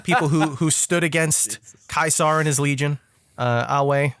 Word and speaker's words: Caesar: looked at you wrong the kaisar thing freaked me out for a while um apparently it is closer to the classical pronunciation uh oh right because of the way I guess Latin works is that they don't do the the S with the Caesar with with the AE following it so that's interesting I